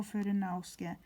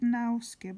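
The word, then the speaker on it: Fudenosuke: It's not Tombow Fudnosuke. It's Tombow Fudnosuke. It's Tombow Fudnosuke. Is it possible to read on camera? Fudnosuke. Suke, not nauske, but suke.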